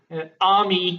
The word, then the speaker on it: Ami: And yes, Army is how you pronounce it.